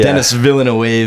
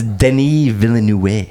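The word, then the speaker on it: Denis Villeneuve: countless times on here I'm still calling him Dennis villain wave he not not getting this French pronunciation I knew what it was a few weeks AG I think it's Denny villain yeah could not be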